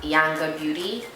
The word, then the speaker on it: Yanga Beauty: Chronicle this is from yanga beauty in the shade Nana it's pronounced yanga Beauty I said that yanga beauty it's pronounced yanga Beauty she said looks really good it